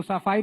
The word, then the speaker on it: सैफई: आनंद, गरीबी देखनी है ना तो सफाई में जाके देखिए, 500-600 करोड़। सैफई तो बोलना सीख जाओ, सफाई नहीं है सैफई है।